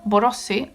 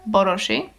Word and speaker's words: Borossy: My uh as you probably can hear from my last name, Borosi or Borosi is the original pronunciate pronunciation pronunciation is how you pronounce it. Okay, you get me? Um is Hungarian.